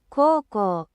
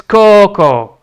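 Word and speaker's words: 高校: Coco. So, it's a long O. So, you don't even speak it out properly. Oh, for sake. All right. Uh, so it's Coco.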